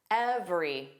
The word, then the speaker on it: every: This very common word is pronounced every. Every. So where's that silent vowel? Again, the middle vowel. So we have two sounds.